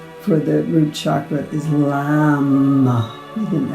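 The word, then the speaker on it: लं: The one-syllable Sanskrit mantra is, for the root chakra, is Lam, with an L.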